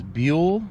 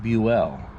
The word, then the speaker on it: Buell: the JFK assassination most people know him as Buell but his name is actually pronounced Buell so before we get started we'll show you